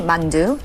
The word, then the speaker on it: 만두: So this is called halmoni mandu which is halmon means grandmother and mandu is dumpling.